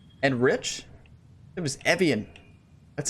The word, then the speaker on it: Evian: pronouncing this course wrong and Rich it was Evian that's how the announcers pronounce it but I I pronounce a lot